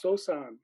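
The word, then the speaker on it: Sōsan: well but it's the third patriarch can you pronounce his name japanese it's sosan so we all know sosan so we'll just go with sosan okay so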